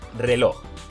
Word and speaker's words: reloj: al último ejemplo tenemos la palabra reloj lo separamos en sílabas truco de la palmada reloj y ahora pasamos al truco del lobo lleva la fuerza de voz en la última sílaba Así que también es aguda ahora vamos a responder